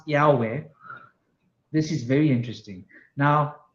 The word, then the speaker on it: Yahweh: when you pronounce it it is pronounced as almost three syllables but it is tying together by vowels with e a o Yahweh right so when you pronounce Yahweh this is very interesting